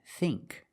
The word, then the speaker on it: think: But with ing and ink, we use the long E sound, like green beans.